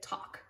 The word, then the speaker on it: talk: talk it looks like it would say talk but we just say talk t-a-l-k talk talk to your